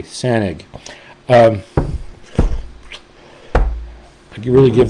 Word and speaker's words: Sanaig: And it's spelled S A N A I G. SanG.